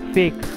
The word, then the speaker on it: PHEIC: The declaration is often referred to as its initials PHEIC, Public Health Emergency of International Concern, pronounced fake, but it gives the WHO real capabilities to affect the course of an epidemic.